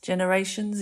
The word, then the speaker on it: generations: and Zed so Generations Generations is G followed by E so if there's a g and an e or a g and an i or a g and a y it's usually soft the J sound like